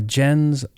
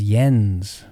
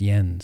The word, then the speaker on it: Jens: two cents in for Jen's Larson Jens his name is Yen it's pronounced Yen Yen Larson's video that's entitled